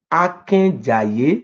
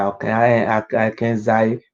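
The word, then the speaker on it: Akenzae: This is meaning that the correct pronunciation is Oba Akenjaye.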